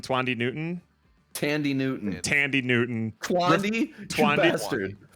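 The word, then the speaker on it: Thandiwe: a nasty throat infection, and how do you pronounce her name? Tandy Newton. Tandy Newton. Twandy bastard. Thandiwi.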